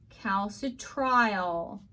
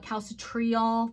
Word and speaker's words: calcitriol: on it and then it is called cows at trial you may have somebody that tries to call it calcitriol that's not wrong but cows to try all tends to be the more appropriate pronunciation all right cows a